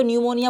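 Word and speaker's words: pneumonia: अब यहाँ पर इसको न्यूमोनिया बोला जाएगा, हालांकि पी से स्टार्टिंग है लेकिन पी साइलेंट है।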